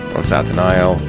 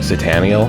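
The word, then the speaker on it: Satanael: Yeah, they ended on Satin Isle, which I guess I was saying it wrong, because I will say Sataniel, but Satin Isle still works. I don't mind that one. I think they do say Satin Isle in-game.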